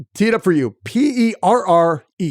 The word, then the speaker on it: Perrenoud: It's Perrenoud. So, and I just pronounce it Perrenoud, the new guy.